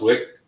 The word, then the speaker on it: Vick: just asking johannes because i always thought it was pronounced wick and he it is it it is pronounced wick but trying to explain that to people when they see it because when it you know um the american version of it is with a w right um but yeah that's